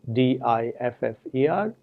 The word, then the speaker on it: differ: For example, in English, we have the two words differ, D-I-F-F-E-R, and defer, D-E-F-E-R, with two different meanings. Whereas one, differ, is stressed on the first syllable, defer is stressed on the second syllable.